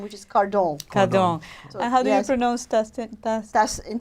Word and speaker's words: Cardon: because that because my married name is so unpronounceable my career name which is car dong dong nose testing that's in French Dustin wah